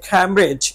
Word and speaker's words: Cambridge: দেখুন এটা কখনো কখনো আনসার হয়ে থাকে এই ক্যামব্রিজ এই ওয়ার্ডটা আনসার হয়ে থাকে ক্যামব্রিজ সি এ